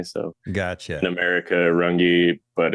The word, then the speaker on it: Runge: strange one yeah it's it's like runga in German something but I can't pronounce it the correct German way so gotcha America rungi but it's always been